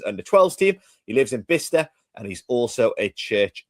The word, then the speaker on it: Bicester: So it's Bicester, but it's pronounced. Right. Yeah, Bicester, that's it.